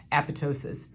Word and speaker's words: apoptosis: in these particular cells it's called apoptosis or apoptosis depending on who you listen to but the correct pronunciation is apoptosis and it also protects